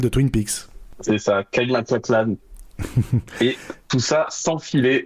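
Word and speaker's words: MacLachlan: Kaclan et tout ça sans filer du premier coup. La bonne prononciation.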